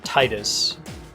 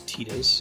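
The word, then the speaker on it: Tidus: So I pronounce his name Titus. I think that's how it should be pronounced. Other games have said the other one, which is Titus, and I owe you all 5 short points for saying that.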